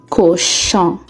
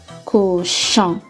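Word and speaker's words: cochon: u r makes fleur our next sound is on o n makes the sound on in the word koshan there is the sound at the end c-o-c-h-o-n kusha thank you for watching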